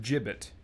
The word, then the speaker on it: gibbet: is what is that is that pronounced jibbit gibbet I don't even I don't know what that is feel like they're expecting the player to be familiar with that word and I haven't read enough Fiction with it let's see here looks like it's pronounced jibbit okay so this is uh